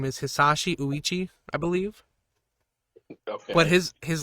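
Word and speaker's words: Hisashi Ouchi: So the way you pronounce his name is Hisashi Uichi, I believe.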